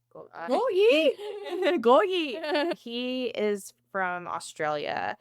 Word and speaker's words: Gotye: Also, I'm tone deaf so The artist I actually didn't look up how to pronounce his name. I think it's Gotye. Gotye.